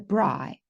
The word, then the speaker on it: braai: You can either stay at home with your family and invite friends over and have what we call a braai, but you call a barbecue.